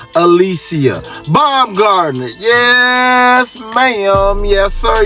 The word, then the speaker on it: Alycia: Yes, Alycia. Not Alicia, not Alila, or Aaliyah, none of that.